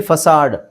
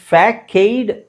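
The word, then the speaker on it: facade: ಹಿಂಗಿದೆ ಅಂತ ನನಗೂ ಗೊತ್ತಿಲ್ಲಎಫ್ಎಸಿಎಡಿಇದು ಫ್ಯಾಕೈಡ್ ಆಕ್ಚುಲಿ ಅದು ಅದರ ಉಚ್ಚಾರಣೆ ನೋಡಿದಾಗ ಫ್ಯಾಕೈಡ್ ಅಥವಾ ಫೇಕೈಡ್ ಅಂತ ಅನ್ಸಬಹುದು ಬಟ್ ಆಕ್ಚುಲಿ ಅದು ಉಚ್ಚಾರಣೆ ಫಸಾಡ್ ಫಸಾಡ್ ವಿಚಿತ್ರ ಅಂತ ಅನ್ಸುತ್ತೆ ಆ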